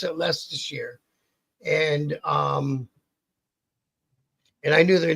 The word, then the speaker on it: Leicestershire: and it's spelt all fucked up, but you pronounce it Leicestershire.